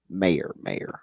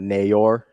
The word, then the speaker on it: mayor: The Warrens of the world than I am the actual mayor. Gotcha. Mayor. Yeah. Like Nair. Nair? Yeah. Not Nayor.